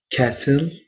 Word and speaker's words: castle: TV التلفاز، تنس رياضة التنس، beach الشاطئ، kite طائرة ورقية، castle قلعة. نلاحظ جيدا أن حرف التي لا ننطق حرف التي في كلمة castle.